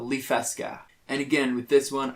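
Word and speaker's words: Liffeska: settled on so that little town is called lee fesca and again with this one i messed around with how it's spelled so that one i spelled l-i-f-f-e-s-k-a with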